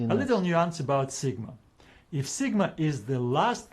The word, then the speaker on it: sigma: Yeah, if you pronounce it the not like a G, sigma, because it's a gamma there then in the name of the letter. Yeah, but yeah, it's an s sound.